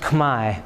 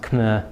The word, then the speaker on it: Khmer: It's actually pronounced 'k-mai' although it looks like it's pronounced 'k-mehr'.